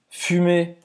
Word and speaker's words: fumer: Roberta, já explicou para fazer esse U, esse biquinho. Faz a boca do U e fala I.